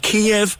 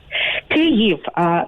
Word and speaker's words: Kyiv: Is it Kiev or Kyiv? Kyiv. The correct pronunciation is Kyiv. It's like K-Y-I-V. Kyiv.